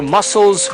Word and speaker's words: muscles: Fíjense que la C esa que usted pudiera pronunciar como un K no se pronuncia aquí, sino que va directamente de como si fuera de la S a la L.